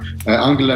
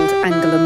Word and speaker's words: Angela: are we getting unshackled angela merkel then are we seeing the real ange uh at the moment i think yes she calls herself like a long e at the end i i think to